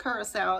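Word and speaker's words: Curaçao: just know that um you should check out Curacao it's spelled c-u-r-a-c-a-o and um oh gosh it is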